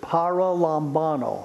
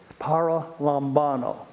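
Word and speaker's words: παραλαμβάνω: me give you a long greek word it's para lambano i'll spell it for you p-a-r-a l-a-m-b-a-n-o para lombano and every beginning greek student can tell you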